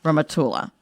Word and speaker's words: Rehmatullah: So please welcome to the show, Rehmatullah. Hello. Hi. Am I pronouncing your last name right?